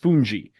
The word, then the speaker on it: fungi: the island is called funji it's spelled like fungi but it's pronounced funji and it basically I